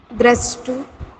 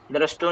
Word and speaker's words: द्रष्टु: तदा दृष्टु द्रष्टु दृष्टु नहीं बोलेंगे, मैंने बोला था जिसके पीछे दो डॉट लगेंगे तो ओह की मात्रा उसके प्रोनाउंसिएशन उसके साथ आएगी।